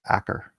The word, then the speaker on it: Achor: Actually, I think it's pronounced Acker.